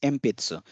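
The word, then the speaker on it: 鉛筆: Nampun deska, just like Mpitsu. It's Npitsu, but when we pronounce it, it becomes Mpitsu.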